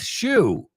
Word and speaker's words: Shue: Aunque suena igual, pero su nombre se pronuncia igual, pero se escribe S-H-U-E. Cuando ya hemos visto que espantar es S-H-O-O y zapato S-H-O-E. Otra vez, los tres se pronuncian exactamente igual.